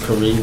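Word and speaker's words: Khari: Uh my name is Kareem. It's spelled K H A R I pronounced Karee like Marie.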